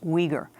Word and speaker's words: Uyghur: were reading about this Weger is spelled uy GH you are that's we gir we're joined also by